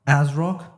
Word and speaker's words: ASRock: brothers right right uh first off is it as rock ASRock how do you say the actual pronuncially uh the name of uh the brand